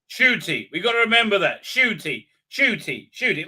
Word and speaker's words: Ncuti: is that sh now nc is sh now i i understand i understand but okay okay shooting shooty that's how you pronounce